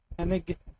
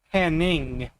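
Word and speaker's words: Hennig: always find it weird that it's Henig because I swear every time I watch wrestling they would always say it as Hanning with with like like pronouncing it with like an NG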